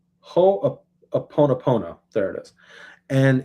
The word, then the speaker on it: Ho'oponopono: And he teaches them this Hawaiian practice of, I'm going to butcher the pronunciation of it, but it's Honoponopo, or Ho'oponopono.